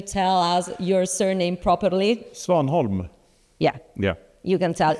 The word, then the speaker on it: Svanholm: He has a surname, but it's impossible for me to just pronounce the surname. Can you tell us your surname properly? Svanholm.